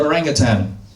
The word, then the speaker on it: orangutan: proboscis monkeys, Komodo dragons, the orangutan, which we pronounce orang utan, very different from the way we say in English.